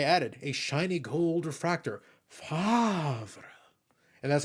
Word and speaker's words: Favre: And I added a shiny gold refractor, Favre. And that's how you pronounce it, by the way.